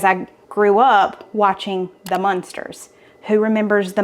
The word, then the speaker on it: Munster: So I thought all monsters were called Munsters. So I know this is pronounced Munster, but I want to say monster because my mom would correct me all the time.